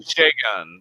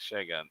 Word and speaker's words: Shagun: Shagun. There he is. Okay, that is how you say it. Shagun.